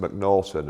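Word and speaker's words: M'Naghten: after this guy called the MCN natton uh test sometimes pronounced mcnorton and there are various spellings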